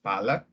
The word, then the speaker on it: palate: know specifically your palate it is pronounced as palak not palette or in Tagalog we